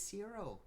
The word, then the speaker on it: Ciro: My name is Ciro. It's a pleasure to meet you. What's his name? Ciro. Ciro. It's spelled C-I-R-O.